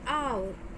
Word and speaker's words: hour: Here, H is a consonant. So, why do we have an here? So, we pronounce our as our, right? So, here O is a vowel.